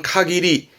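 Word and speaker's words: 限り: 문법도 많이 보이고 꼭 기억해 두세요 명사화 시켜서 발음은 카기리 카리라 하면 말 그대로 제한을 의미하겠죠 한계 어떤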